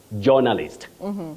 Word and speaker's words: journalist: Many people innocently say journalist. Journalist. Can I see the journalist? Can you call me the journalists? That jaw is wrong.